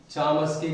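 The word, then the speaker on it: Chomsky: दृष्टि से देखने पर कुछ लोग इसे चोम्स्की कहते हैं, चामस्की कहते हैं। इस प्रकार कहते हैं चामस्की या चोम्स्की या चौमस्की एक ही शब्द है।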